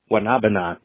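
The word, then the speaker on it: guanábana: So just for fun fact, future reference, whatever you'd like to call it, the Spanish name for soursop is pronounced Guanabana. The way I remember is it sounds like that one song. Guanabana.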